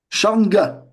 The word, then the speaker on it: Sharnga: C'est- Alors, le nom, écoutez bien, deux syllabes, très dur à prononcer. Nga, Nga, Sharnga.